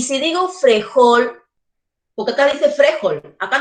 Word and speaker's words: frejol: Frejol, yo digo frejol, por lo tanto, en la última sílaba está la mayor fuerza de voz.